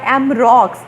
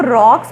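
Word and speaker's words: Roux: एंड an interesting little episode is recorded by एम रॉक्स, ये हम इसको रॉक्स पढ़ते हैं, एमरॉक्स पढ़ते हैं, लेकिन इसकी फ्रेंच प्रोनाउंसिएशन है एमरू। बोलेंगे हम इसको एमरू, क्योंकि फ्रेंच जो हैं वो इसको रू बोलते हैं।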